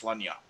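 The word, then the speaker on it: Sláine: Some people what's the tagline for Slain? The thinking man's Conan. Yeah. Slain, or I think it might be supposed to be actually pronounced Slunya. Yeah, Tosspot says Sim something, and then Evan says Conanians.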